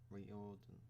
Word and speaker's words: Riordan: rick riordan yeah okay it just sounds like you almost ignore the r reorder no you do okay